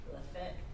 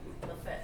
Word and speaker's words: Lafayette: Lafayette. It's Lafayette or Lafayette. You don't say You Lafayette. spell it Lafayette. It's still spelled the same. But It's it's just- Lafayette. You just pronounce it differently, because we're from the